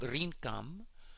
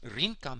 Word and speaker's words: Rinkam: the old tongue called Rinkam, spelled Re-en-Kam, or Re-en-Kamet, but you pronounce it Rinkam, he told me, Rinkam, ancient Egyptian Rinkam.